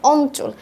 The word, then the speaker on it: অঞ্চল: যেমন অঞ্চল, এখানে কি চ এর সাথে যুক্ত হয়েছিল ইও, সেই জন্য এটা কি হয়ে গেল? অঞ্চল। ইওটা পরিবর্তন হয়ে ইওর উচ্চারণ হয়ে গেল ন, আর বাকি যা আছে তাই।